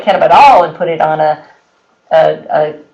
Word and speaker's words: cannabidiol: I always thought it was cannabinol.